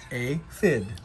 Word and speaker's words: aphid: like to eat how do you say aphid like this a fid poop is not yummy